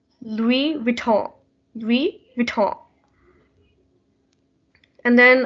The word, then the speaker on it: Louis Vuitton: it's a famous brand it's actually pronounced louis vuitton we we talk and